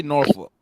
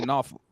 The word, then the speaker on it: Norfolk: No, that's how we say it. We don't say Norfolk. We say Norfolk.